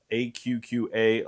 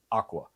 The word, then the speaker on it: AQQA: We pronounce AQQA letter by letter is because we want the viewers to remember the brand name and how to spell it. Too many brands are pronounced as Aqua.